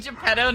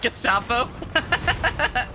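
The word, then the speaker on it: Geppetto: Oh, he is referred to as um you mean Japetto, not Gestapo. The Gestapo son.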